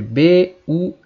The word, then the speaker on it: buy: follow Now o verbo comprar em inglês escreve b y mas a pronúncia é by vez by e você pode